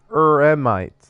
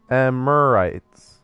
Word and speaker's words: Eremites: It's Eremites, not Emirites.